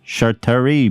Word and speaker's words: Chartreuse: Chartreuse, bird.